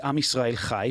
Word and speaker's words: Am Yisrael Chai: Meanwhile, while Free Palestine sounds so awesome and approachable, we say Am Yisrael Chai. Most people don't even know how to spell it or pronounce it correctly. That CH is pretty difficult to get out.